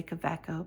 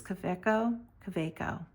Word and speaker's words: Kaweco: And I love this new, I know I'm always going to say it wrong because I always say Kaweco, but it's Kaweco.